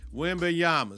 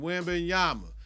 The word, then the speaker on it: Wembanyama: Wembanyama. Say his name, Wembanyama.